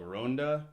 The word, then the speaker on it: Ronda: to a town called Ronda it's spelled like Rhonda but with a Spanish accent it's like a two